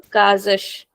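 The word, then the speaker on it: casas: want to make this plural this will become kazash kazes. So in the in middle I'm saying the s as z but at the end it is very soft kazash.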